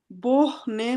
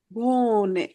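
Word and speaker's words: wohne: আমরা বাংলাতে ভ বললে যে উচ্চারণটা হয়, তাহলে এটা কি হবে? ইস ভে ও কি হবে? ভো, ইস ভো, লাস্টে নে, ভোনে, ভোনে।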